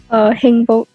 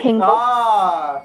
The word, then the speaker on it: 행복: 행복. All right, Heng Hengbok.